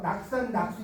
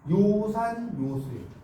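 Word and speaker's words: 樂山樂水: 사람 이거 읽으라고 그러는데 막 낙산 낙수 이런 무식하다고 하는 거예이 뭐예요 요산요수 여러분이 글자는이 글자는 의미이 세 개예요 자 써보세요 즐거울라 음악가 조아유 조아 여러분 낙산 수라고 읽으려고 그랬죠네 조입니다 그니까 산 좋아하고 물을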